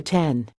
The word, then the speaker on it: X: calling it the 10 I've called it the X a couple times but been corrected I know it's supposed to be called the 10 Daniela Contreras at mobile